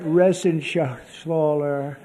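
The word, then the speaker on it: Reschenthaler: You know that Resenshaw. That's actually the way you pronounce it, you know.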